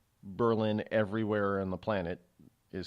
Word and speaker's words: Berlin: here in New Hampshire we don't say Berlin we call it Berlin believe it or not